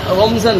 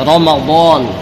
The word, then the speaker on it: রমাদান: নামে নামকরণ করা হয়েছে আমরা বাংলায় বলি রমজান তবে এটা রমজান না মূল শব্দটা মূল উচ্চারণটা হচ্ছে কি রমাদান মূল শব্দটা কি রমাদান তো রমজান মাস এটা